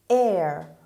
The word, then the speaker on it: heir: Word number 1, heir, heir, heir. دقت کنید تلفظ این کلمه رو خیلی دقت کنید. ما H داریم، I داریم، خوانده نمیشوند. heir میخونیم.